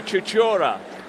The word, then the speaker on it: Chuchura: Okay, having consulted with one or two friends from Eastern Europe, the pronunciation on the last name is Maria Chuchura. Chuchura?